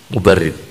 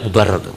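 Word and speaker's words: Mubarrid: muridnya ini ngaji pada mubarid bacanya tidak mubarad mubarid Bukan mubarad tapi apa mubarid nah mubarid ini punya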